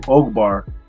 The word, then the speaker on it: Ogbar: so don't feel bad I actually had to put it on my zoom call with a long o so you see my name oakbar but I have colleagues